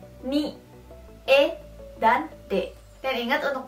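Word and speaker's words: へ: Terus ada juga he, dibacanya menjadi e.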